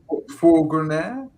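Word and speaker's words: Fourgonnette: Is it the Furgonet? Is that how you say it? The Furgonet? Probably not. Just say Renault. How do you say it then? I would say Fourgonet.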